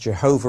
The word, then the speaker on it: Jehovah: letters of god's name that's pronounced Jehovah in English and Yahweh in Hebrew now to help you